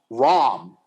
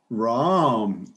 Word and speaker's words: Ram: First of all, as a Hare Krishna, I think the name should be pronounced Ram. Ram.